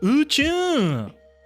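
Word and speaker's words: 宇宙: At least that's how it gets pronounced. It gets written as here. Usu. Something with usu. Uchu.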